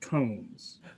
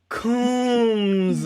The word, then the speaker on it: Coombs: Coombs or Combs? Coombs, my good sir.